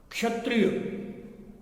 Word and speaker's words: क्षत्रिय: क्षत्रिय हम कहते क्षत्रिय, क्षत्रिय नहीं है क्षत्रिय, यानी जो क्ष वर्ण है वो क और श इन दो वर्णों से मिलकर बना है। अतः जो क्ष का उच्चारण होगा वह कंठ और मूर्धा दोनों होगा, जबकि छ का उच्चारण है वह केवल तालु होगा।